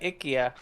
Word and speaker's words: IKEA: Apparently they pronounce it IA. Oh, no kidding. Yeah, we were in IKEA. Ickia.